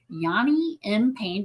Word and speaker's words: Yani M Payne: And I have Yanni M. Pain. Did I pronounce that correctly?